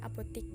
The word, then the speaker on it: apotek: Adapun yang ke-11, apotik, di mana bentuk kata yang tepat menurut Kamus Besar Bahasa Indonesia seharusnya apotek, tulisannya apotek tapi bacanya apotik.